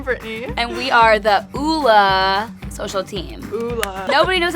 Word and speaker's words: Ole: We are here to tell you it's Ula. We get Ole, Ole Henriksen, Ole Henriksen. There's no D.